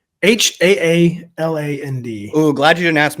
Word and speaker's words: Haaland: Haaland. Oh, glad you didn't ask me, because I would have said, don't they have a Holland? Which would have been correct, just not phonetically.